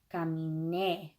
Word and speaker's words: caminé: The emphasis is no longer, as it was in present tense, is not on the in, it's on caminé. So you got to really, when you're speaking it or you're reading it or whatever, you got to punch that last syllable, caminé, and make it